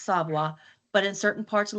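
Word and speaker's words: Savoy: Both are pronounced savoa, but in certain parts of Louisiana, I know in Ibraville Parish, s a v o y is pronounced seavoi. I say savoa.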